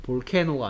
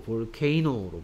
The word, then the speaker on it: volcano: 볼케노가 아니고 볼케이노로 바뀝니다.